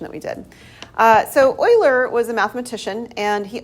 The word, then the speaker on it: Euler: um and so yeah it is Oiler Oiler was his name it was back in